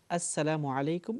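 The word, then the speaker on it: السلام عليكم: প্রথমত আমরা যেই অবজারভেশন দেব পর্যবেক্ষণ সেটা হলো আসসালামু আলাইকুম এটাই হচ্ছে কারেক্ট উচ্চারণ। শুদ্ধ উচ্চারণ।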